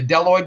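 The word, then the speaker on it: bdelloid: some species of roifers like the deloid roifers the be there is silent about 360 species that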